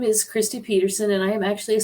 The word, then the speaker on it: Pederson: So my name is Kristi Pederson, and I am actually a psychic medium in Omaha, Nebraska. Sorry. It looks like Pederson, but it is actually Pederson.